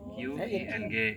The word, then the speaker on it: Qing: Tulisannya pakai Q I N G gitu ya. Bacanya Q I N G. Nah, tapi bacanya Qing loh, Bu.